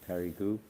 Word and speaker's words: Périgueux: Mirepoix district, but others also near Périgueux, you pronounce it Périgueux, and Agen.